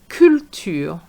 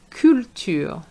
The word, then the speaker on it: culture: capitalisme capitalisme culture culture So those four words for example are French words in the English language. And you have to remember that those words are going to be pronounced the French way.